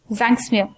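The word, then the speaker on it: Tzanck smear: one what is this it starts with a t where t is silent it's a smear zinc smear why will you do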